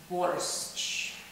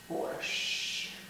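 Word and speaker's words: борщ: And the most popular Russian soup is borscht. That's how they pronounce it in English. It's borscht. So these three consonants, S, C, H, make one sound in Russian. And it's the letter sh.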